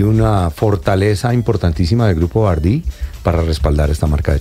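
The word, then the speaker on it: BYD: en ese segmento bueno grupo cómo le dicen bardi o bardi bardi parece que tiene tiit y grupo bard Sí yo de hecho lo pronuncio así grupo bí capitán carros grandes eh híbridos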